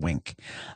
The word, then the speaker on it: Winc: as a new member of Wink.